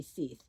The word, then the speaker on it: Seith: If it's pronounced like Keith, it would be Seith.